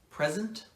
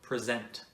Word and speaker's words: present: word can be pronounced present or present when it's a noun the first syllable is stressed present when it's a